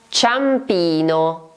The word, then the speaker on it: Ciampino: Ciampino, Ciampino. Probabilmente hai già sentito questo nome perché è il nome di uno degli aeroporti di Roma. Ciampino si scrive con C-I-A.